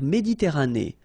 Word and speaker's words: Méditerranée: La mer Méditerranée. Okay, here final E not pronounced, but then you pronounce this E at the end.